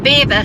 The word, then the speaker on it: Belvoir: outlet uh next to Beaver Castle, Beaver, spelled Belvoir.